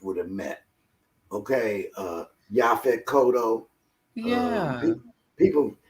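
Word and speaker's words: Yaphet Kotto: about y'all fed cotto everybody they say his name different they say yep it i i used to say it that way you know but his name his correct name was ya fit yeah koto okay and you know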